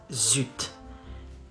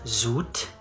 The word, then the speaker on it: zut: Not zut, it's zut. Zut. Not zoot, zut.